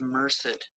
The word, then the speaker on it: Merced: Yeah, I went through that uh Merced kept saying mer. I didn't know how to pronounce it. It's Merced County Sheriff's Office.